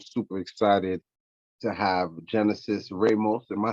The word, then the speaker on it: Ramos: I'm super excited to have Genesis Ramos. Am I saying it right? Thank you for asking. It's actually Ramos. That's how Ramos. it's Okay, listen, pronounced.